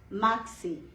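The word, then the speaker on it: merci: R gives you Ka sound here, okay? In French language, whenever R is used in the beginning or when it is used in the beginning, that gives another sound, but when it is used in the middle of the word, that gives you Kha sound, Kha, okay, like Khan. Similarly, that gives you maxi.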